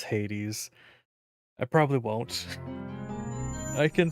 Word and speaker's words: Hades: win with games and whether it gets pronounced as Haze or Hades hopefully I'll remember that this game is saying it is Hades I probably won't I